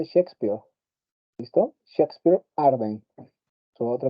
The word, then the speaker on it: Shakespeare: Claro, se escribe chakespeare, así como chespirito, pero se pronuncia Shakespeare.